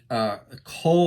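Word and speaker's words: Kuiil: His name is Cole, I believe is how you pronounce it.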